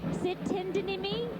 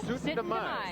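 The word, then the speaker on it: Syttende Mai: And for the past 7 years, they performed in the Minneapolis, how do you pronounce that? Sitindinimi? No, Sitindamai.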